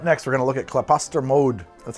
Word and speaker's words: Klaposter Mjod: All right, up next, we're gonna look at Klaposter Mode. That's how you pronounce that, Klaposter Mode.